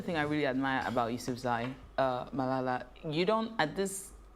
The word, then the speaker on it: Yousafzai: International Malala Day is celebrated every year on July 12th to salute the Pakistani activist, that's Malala Yousafzai. How do I pronounce her surname?